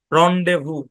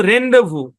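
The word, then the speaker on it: rendezvous: শব্দ যেমন সেই লেসিফিয়ার রন্ডেভু যেমন এটা যখন বাড়ির কাজ দিবেন দেখেন খেয়াল করেন এটা যখন বাড়ির কাজ দিবেন হ্যাঁ আছে কিন্তু রেন্ডেভু রেন্ডেভু না রন্ডেভু ভাই এগুলো কিন্তু কোন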